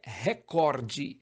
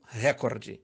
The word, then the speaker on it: recorde: No segundo caso, a pronúncia correta é recorde e não recorde.